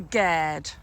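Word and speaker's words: gaerde: another bit of Orchard we call this the G um which is an Old English word for garden it's spelled g a e r d e it's Walnut much ravaged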